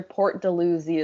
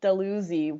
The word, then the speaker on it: Dalhousie: ontario i think we other pronunciations are port de luzi as well which is weird since we know dalhousie university yeah they're spelt the same way but from what i know it's delusi which doesn't make any sense anyways